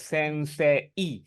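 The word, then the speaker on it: 先生: So the character is sensei. However, the pronunciation is sensei, wrong e, sensei sound.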